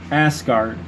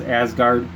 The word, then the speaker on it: Asgard: high-end secret palace of asgard there you go with that word ass again a-s-g-a-r-d as asgard the brave lord roland